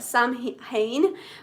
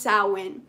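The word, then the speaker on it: Samhain: So it's it sounds like sam hayne, but it's pronounced sin.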